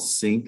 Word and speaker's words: CINC: talk at 1 o'clock to a company called Sync. It's spelled CINC.